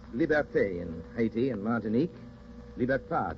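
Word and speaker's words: liberté: for Haiti L is for Liberty Liberty is pronounced liberte in hati and martinque libertad in the islands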